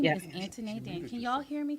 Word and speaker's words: Antoinette: Antoinette. Anthony. But the Mm-hmm. way it's spelled, people look at it like it's Antone.